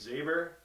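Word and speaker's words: Xaevor: this week is an artist named saber that's spelled x AE vor and he's makes me pretty heavy traction to like him so yeah you're gonna be looking up Xavier this week and next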